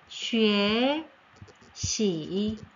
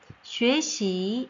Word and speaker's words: 学习: 자, 으어 발음이 아니라 위에 라는 발음으로, 위에 라는 발음으로 들어갑니다.